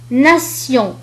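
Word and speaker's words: nation: أما إذا جاء بعدها إي وأو أو إي وأو تنطق كحرف السين، مثال ناسيون. ناسيون. ناسيون. إذا نلاحظ أن تي جاء بعدها إي وأو فنطقت كحرف السين.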